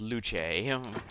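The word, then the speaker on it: luce: and just call me well pronounced luch it's the uh Italian way to pronounce the word for light nulberry I definitely want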